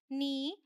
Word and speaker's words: knee: K is silent before N, simple है।